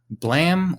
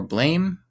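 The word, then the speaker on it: Blame!: yeah um would be blam or blame uh it's I think it's spelled blame but I think it's said blam like a gunshot it's by suomu ni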